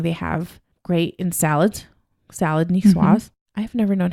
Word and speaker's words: Niçoise: Niçoise? Niçoise. Oh man, I totally butchered that. Niçoise.